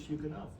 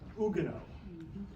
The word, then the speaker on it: Huguenot: of hugenot which is Hugo and the the actually would say Ugo the French wouldn't pronounce the h or the t uh but the English